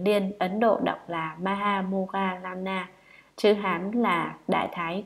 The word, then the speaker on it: Maha Moggallana: Ngài Maha Mục Kiền Liên, Ấn Độ đọc là Maha Moggallana, chữ Hán là Đại Thái Thúc Thị, là bậc có phép thần thông đệ nhất.